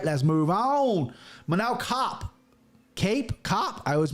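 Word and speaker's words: Kape: Is this Cape or Cop? It's Cop, like Cop. The police. Yeah, that's how he pronounces it, Cop.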